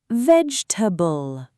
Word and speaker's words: vegetable: I will say a word in 2 ways, wrong and correct. You tell me which one sounds better. Okay. Veg-e-ta-bull. Vegetable. The second one sounds better. Yes, that is the correct natural pronunciation. You don't say every letter clearly.